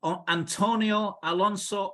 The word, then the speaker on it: Antonio Alonso: not not a native of these parts and Antonio Alonso that's right I hope I pronounced your name correctly my friend yes perfectly